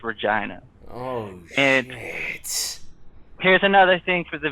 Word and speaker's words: Regina: the name of this town you wanna say regina but the town is pronounced regina here's another thing for the viewers uh so